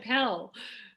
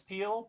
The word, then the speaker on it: Pehl: appreciate did I it's you said pel damn it you know what I know it's Peele because I actually listen I